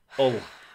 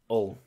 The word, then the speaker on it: Hull: Hull, as it's pronounced. Yeah, it's Hull. Hull. There are no H's in Northern.